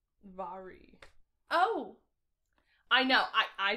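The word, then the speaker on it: Mhairi: my ari it's okay it's pronounced really weird if on the back you look her name's pronounced vary oh i know i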